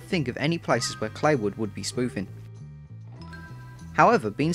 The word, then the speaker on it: Claywood: The game takes place in Rockstar's fictionalised version of Kentucky called Claywood, pronounced like Clay.